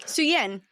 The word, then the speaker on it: Szuyin: Szuyin. Yes. The Z is silent. The Z is what throws everyone off.